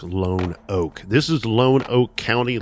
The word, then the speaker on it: Lonoke: This week we are heading down to Lone Oak, spelled like Lenoke, but I believe it is pronounced like Lone Oak.